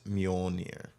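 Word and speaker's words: Mjölnir: I forget what umlauts are, or how you pronounce them. It's Mjolnir.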